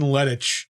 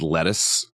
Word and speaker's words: Lettich: Yeah, Sheldon Lettich. I was just saying. I was thinking it was just pronounced lettuce.